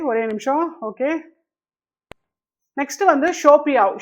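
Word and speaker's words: 手表: Okay, next வந்து ஷோபியாவ். Show அப்படின்னாலே வந்து என்ன அர்த்தம்னா ஹேண்டுன்னு அர்த்தம். அப்போ இந்த இடத்துல நம்ம தேர்ட் டோனை வந்து செகண்ட் டோனா மாத்திக்கிறோம். அப்பதான் நம்மளால நல்லா ப்ரொனவுன்ஸ் பண்ணலாம். ஷோபியாவ்.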